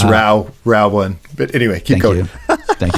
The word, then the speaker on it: ROW1: It's pronounced Row one.